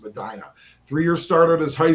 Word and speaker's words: Medina: That was Drew Allar, 6'5", 228-pound senior, our number 4 prospect from Medina, Ohio, I believe that's pronounced Medina.